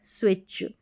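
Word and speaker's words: switch: sweet स्विम और स्विच तो यहां पर देखेंगे स्विच जो ये टी सी एच है ना सी एच का उच्चारण तो च होता है च रहता है लेकिन टी अगर देखेंगे तो साइलेंट है यहां पर तो इस तरीके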